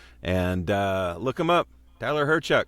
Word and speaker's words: Hyrchuk: And look him up, Tyler Hyrchuk. It's spelled lots of consonants. Hyrchuk.